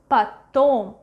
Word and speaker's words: потом: Потом, потом, потом. Which O is stressed? Correctly. Second one. Потом. So this one we pronounce as A.